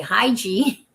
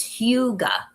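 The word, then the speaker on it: hygge: I would, you know, initially when I first saw it, I would say hi Gi, but it's Huga. That's how you pronounce that word.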